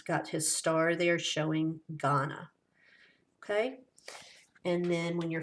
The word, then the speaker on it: Ghana: We're going to have the word Ghana, and it's pronounced Ghana.